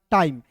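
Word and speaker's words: time: टाइम टी आई एम ई टाइम ठीक है ना टाइम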